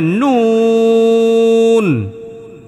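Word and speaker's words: نون: এইতো হইছে এরপরে নুন নুন নুনের মধ্যেও তিন আলি পরিমাণ টান দিবেন নুনে কি করবেন হ্যাঁ মূলত এটা ছিল নুন নুন নুন নুন তো যদি এখানে নুনের মধ্যে ওয়াকফ করেন তখন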